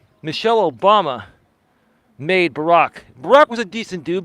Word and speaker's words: Barack: respect to Michelle and Barack and I remember George Bush used to call him Barrick Barrick well they used to